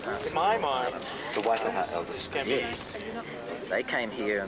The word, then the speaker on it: Waitaha: Now, it's weird that they divide, because the Waidaha, that's how I used to pronounce it, I couldn't remember how they say it, but they are a Maori people, right?